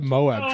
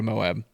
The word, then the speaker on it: Moab: Moab? Mob. Yeah, so that Friday The A is all right. silent.